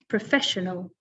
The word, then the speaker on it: professional: So the stress is on the second syllable with this one, professional.